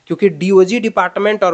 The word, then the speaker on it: DOGE: कुछ ना कुछ अच्छा बदलाव होगा तो जब डोज डी ओ जीी ई का जब उच्चारण हो रहा है तो इसी के साथ